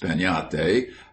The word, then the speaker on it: piñata: But everywhere children would be talking about breaking a piñate, pronounced peñate, as you talk of having a tree.